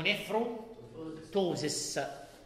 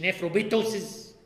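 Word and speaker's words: nephroptosis: وده المرض اللي اسمه نيفرو توزس. طبعا في بي سايلم في كلمه توزس ما بنطقش، ما تقوليش نيفرو بيتوزس عشان الواحد بيسمع منكم نطق غريب قوي.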